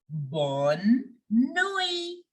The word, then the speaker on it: bonne nuit: We will say good night as bonne nuit. Bonne nuit. The T in the end is silent.